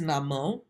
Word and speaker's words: Namo: Next is Namo. So the na is a short syllable and the mo is stretched out.